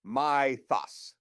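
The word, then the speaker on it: Mythos: 17 involved Anthropic's Mythus 5, pronounced my-thos.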